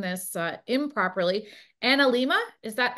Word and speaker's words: analemma: say it tell me how to say it analemma analemma is actually power symbol of the sun if